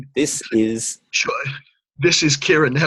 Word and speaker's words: Ciaran: This is Ciaran. My name is Irish. It's spelt weird.